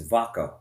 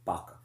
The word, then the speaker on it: vaca: It's vaccines, vaca, or in Spanish, the V is pronounced with a B, vaca, meaning cow.